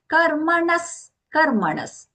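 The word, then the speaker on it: karmaṇaḥ: Karmanas. So the na there, Banavallana, followed by that visarga, which is being pronounced as half sa.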